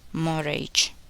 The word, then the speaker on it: mortgage: The letter T is silent in the following words. Listen and repeat each word after the speaker. Often, listen, fasten, hasten, mortgage, mustn't.